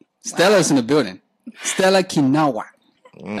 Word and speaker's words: Kinawa: Stella Kinawa. Mm. I say it right? Yes, you did.